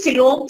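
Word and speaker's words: coelom: true s true t r u e true silom STS silom means body cavity example this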